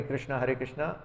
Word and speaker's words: कृष्ण: संस्कृत में इसका जो प्रोनाउंसिएशन है वो कृष्ण है, कृष्ण। इसलिए श्रील प्रभुपाद भी देखिए पुस्तकों में या इवन भागवतम में या सभी जगह पे जब वो कृष्ण लिखते हैं तो वो KRSNA और नीचे डॉट्स लगाते हैं ताकि इसका प्रोनाउंसिएशन एक्चुअली कृष्ण है।